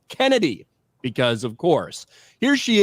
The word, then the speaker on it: Chennedy: is uh Kennedy Carter it's spelled chennedy but it's pronounced Kennedy because of course here